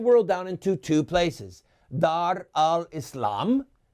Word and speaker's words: Dar al-Islam: Dar al-Islam. That's how you say it with the Arabic accent, by the way.